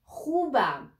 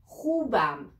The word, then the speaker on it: خوبم: You may find it a little bit difficult to pronounce kh sound, but I will tell you, let's say, the back of your tongue will touch the upper part of your mouth and you say So one more time, let's try it together.